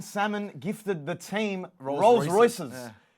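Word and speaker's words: Salman: the uh World Cup Prince Muhammad bin summoned what's the pronunciation so it was Prince Mohammed bin salmon gifted the team rolls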